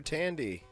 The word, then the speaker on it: Thandie: Thandie. Give it up Thandie for, Newton. Give it up for Tandy.